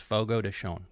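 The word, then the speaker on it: Fogo de Chão: de Sean shown okay I'm guessing most of us mispronounce that we've Americanized it but it's Fogo de shown Fogo de shown Fogo de Chao we'll take that you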